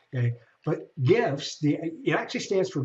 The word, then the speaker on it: GIF: It's the soft G as opposed to the hard G. Okay. But GIFs the It actually stands for graphic interchange file.